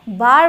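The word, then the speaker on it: bar: बी ए आर ई बेयर बी ए आर बार बोला जाएगा बी ए आरई बेयर बोला जाएगा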